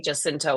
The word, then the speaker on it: Jacinto: say Jacinto also. He does not. Yeah, so he pronounces the J as well.